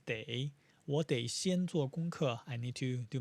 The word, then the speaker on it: 得: And then day here is what we learned in unit 15, the illness unit, and it's pronounced as day.